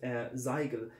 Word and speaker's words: Zoigl: But it was pronounced Zoigl in the Oberpfalz region, and the Zoigl is